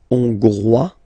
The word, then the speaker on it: Hongrois: Hongrois, Grois, Hongroises. Okay, so here final S not pronounced for the masculine form, and then you pronounce it here for the feminine form.